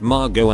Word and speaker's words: Margot: So there's a story about Margot Asquith, a British socialite and author, meeting Jean Hollow and correcting Hollow's mispronunciation of her first name. No, the T is silent, as in hollow.